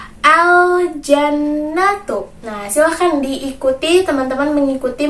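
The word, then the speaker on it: الجنة: dengan alif lam komariah, maka kita harus bacanya dengan jelas. Berarti teman-teman harus membacanya dengan jelas pula. Bagaimana bacanya tadi? Al-jannatu.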